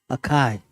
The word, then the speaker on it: Akai: Akai. Let's pronounce it right.